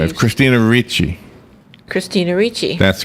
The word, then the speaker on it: Christina Ricci: Christina Ricci.